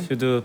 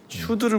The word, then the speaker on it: SCHD: 참, 어떻게 슈드를 몰라요. SHUD 아니 SCHD. SCHD 이거 SCHD 네. 발음하기가 좀 애매하게 슈드라고 하는 거잖아요. 네네.